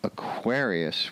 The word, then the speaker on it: Aquarius: like Gemini but Aquarius going from Aquarius where the accent is on the second syllable to the awkwards accent on the first syllable that's a little bit